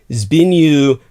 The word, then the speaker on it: Zbigniew: As far as I can ascertain, I think this is the correct pronunciation. It's Zbigniew Brzezinski.